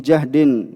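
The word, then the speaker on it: جهد: sini maknanya adalah ya bacanya jahd Ya dengan memfathah ya nanti kalau difathah apa Diah juhd kalau Judin Apa upaya usaha tapi kalau jahdin itu apa ya maknanya apa kesusahan ya kesusahan kesulitan bisa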